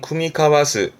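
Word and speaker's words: 酌み交わす: 복합 동사로 쓰게 되면 발음은 쿠미카와스.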